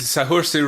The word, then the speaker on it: Saoirse: I don't know how to pronounce Irish names, Sean. It's Saoirse Ronan.